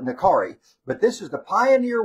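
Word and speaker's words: Nakiri: They pronounce it Nakati, like the R is with a T, but we call it Nakari.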